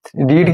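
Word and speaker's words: read: रीड की third form रेड। लिखते spelling रीड ही है।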